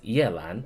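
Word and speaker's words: Yelan: Yay is a syllable that doesn't exist in Chinese. They made that up instead of just saying yeah like yes. It's yeah lan.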